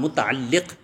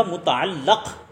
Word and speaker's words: متعلق: کے متعلق ہوتے ہیں، بکسر اللام متعلق، اور جس کے متعلق ہوں اس کو کہا جائے گا متعلق بفتح اللام۔ اسے غور سے سننا